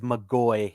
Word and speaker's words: McGoy: Brian has messaged me to remind you it is McGoy is the McGoy. way it's how it's pronounced.